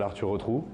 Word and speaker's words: Arthur Retrou: rapidement moi je m'appelle arturo trou donc ça s'écrit heureux comme on retrouve comme un trou ça c'est facile à